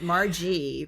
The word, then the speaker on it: Margie: Margie, like margarita with a hard G. I'm sure you get that all the time, right? Margie, probably.